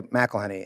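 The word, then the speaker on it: McElhenney: say name sir and you say macenny and they look up with confusion and they should because it's ridiculously long and so many syllables and then you try to explain why it's not MAC why is it MC and then is there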